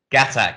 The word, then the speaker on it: Ghatak: Super excited to be here with Raj Ghatak. Did I pronounce that correct? Gatak, yeah, that's right.